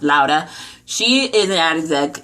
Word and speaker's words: Laura: You have Laura, who is pronounced Lauda.